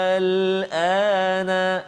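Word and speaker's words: آلْآنَ: yang ke-51 surah Yunus, iaitu ayat dia al-ana, dia ringan saja, mukhaffaf tu dia ringan, dia tu dia ringan, al-ana. Berapa harakat? 6 harakat. Al-ana, itu cara baca dia, maksudnya dia ringan, dia tidak diidghamkan ke dalam huruf selepasnya.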